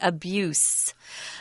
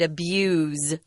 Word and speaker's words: abuse: the word abuse and listen to the pronunciation it's an S sound abuse but if you use the verbs form it's a different pronunciation I'm sorry and it's a Z sound abuse don't abuse people right